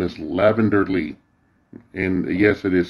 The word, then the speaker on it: Lavynder: she slash her that identifies my name is lavender Lee and yes it is spelled that way lavender Lee all right she describes her favorite colors